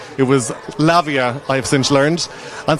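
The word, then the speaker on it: Lavai: the time and I didn't know how to pronounce her name. It was Lavia I have since learned and so I kept on roaring uh go on ex's girlfriend but that's all I knew.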